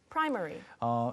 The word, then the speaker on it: primary: Primary. Primary. 지금 스테파니 씨의 발음은 사실은 이제 보통 영국 아까 제가 소개할 때는 영국 분들은 primary처럼 발음을 더 많이 하세요.